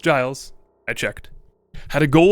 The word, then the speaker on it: Giles: The composer, Giles Lamb, and yes, it is pronounced Giles, I checked, had a goal of creating a trailer that captured viewers in a unique way.